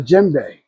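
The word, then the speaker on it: djembe: So with hip hop, we were able to use the Jimbe.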